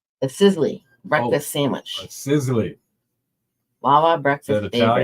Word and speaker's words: Sizzli: Sizzli.